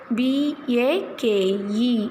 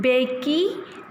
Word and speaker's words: bake: Are you pronouncing Becky, piney, bony? No. Here E is silent.